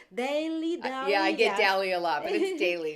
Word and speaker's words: Daly: Daily, Daly. Yeah, I get yeah. Daly a lot, but it's Daly, yes. Daily, without the I.